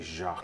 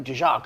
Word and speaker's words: Jock: You guys say Jacques. Jock Landale. That's St.